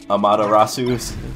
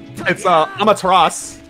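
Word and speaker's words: Amaterasu: Amada Rasu picks up some ham and she's like, yo, Pog. It's Amateras, by the way.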